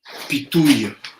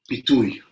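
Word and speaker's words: פיתוי: In Hebrew, pitouille. Pitouille.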